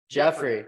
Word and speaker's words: Geoffrey: might be idiots but is it Geoffrey or is it Jeffrey Jeffrey okay okay yeah Jackson sorry